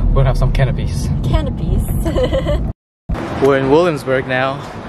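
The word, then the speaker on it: canapés: driving oh yeah that's it i checked the pronunciation it's canopies we'll have some canopies canopies we're in williamsburg now looking for one no it's 182.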